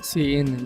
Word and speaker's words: cin: keyboard with the extraction operator C in is pronounced C in used for input and user extraction operator user